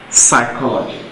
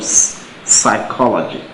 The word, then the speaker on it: psychology: look at option a psychology of course the letter p p is there but it is silent it is not pronounced so we actually start our pronunciation from psychology so it means it